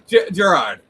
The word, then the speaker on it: Gerard: Just like Jared. I used to say like the Subway guy, but let's go with the jewelry store now.